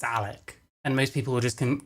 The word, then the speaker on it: Alec: People call me Alex. They think my name's Alex. I correct them. I say my name's Alec.